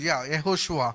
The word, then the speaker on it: Yehoshua: And in Telugu it is Yehoshua. యెహోషువ యేషువ. There is no sound J in Hebrew.